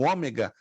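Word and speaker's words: ὦ μέγα: no grego que aparecem o ômega vão ter também o o som de como fosse de um o aberto mas é muito variante de acordo com a palavra apresentada lá na frente vocês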